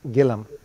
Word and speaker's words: Gilliam: And it's my really privilege and honor to introduce Brian Gillum. Now, I didn't realize his last name is Gillum because it's spelled as Gilliam.